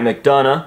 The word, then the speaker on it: McDonough: the signature matt mcdonough i'm finally saying it right even though it makes no sense at all to say mcdonough when it's spelled like this that's mcdonald if i've ever seen it in my life but regardless here we have